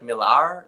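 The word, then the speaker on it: Millar: pronounce it he goes it's actually like milar like like with a little RS roll and I'm like okay I so I'll just say Miller Mar what do you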